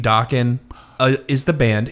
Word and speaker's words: Dokken: real quick, the name Dokken is the band. It's also Don Dokken's last name. That's correct. It was decided that this is a good name because why? Please tell me. It rhymes with rockin'.